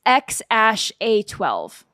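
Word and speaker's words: X Æ A-12: It is pronounced X-A12.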